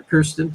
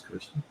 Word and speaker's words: Kristen: Or Kirsten. Sorry, said it wrong. Kirsten. It's Kristen. Sorry.